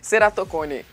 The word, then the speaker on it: ceratocone: ficou na dúvida aí né será o quê seratone é isso Doutor mesmo a pronúncia Ó seratone gente para quem não conhece